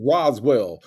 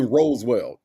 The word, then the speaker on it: Roswell: She knows it's pronounced Roswell. Why is she saying Roseell?